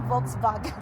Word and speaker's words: Volkswagen: Volkswagen or Volkswagen? Uh it's like an F Volkswagen I think.